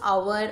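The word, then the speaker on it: hour: Okay, like words our, honest man, here H is silent.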